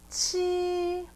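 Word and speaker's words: 七: leo okay number six number seven is chi but it sounds like cheese like chi chi then number eight is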